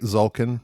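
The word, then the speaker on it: Tzolk'in: I don't like how it's spelled with a T. It's misleading. It's silent. Zulkin. You would think there's no T. It's a low T. Silent T.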